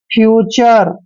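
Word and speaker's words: future: है ध्यान रखिए जैसे एफ यू टी यू आर ई देखिए इसमें भी यू के बाद आर ई आया है तो इसका उच्चारण हम आर का जैसे फ्यूचर फ्यूचर मतलब भविष्य फ्यूचर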